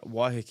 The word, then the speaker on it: Waiheke: Is that how you pronounce it? It's Sorry? Waiheke, yeah.